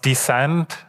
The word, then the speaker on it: DSCD: Should be pronounced Descent.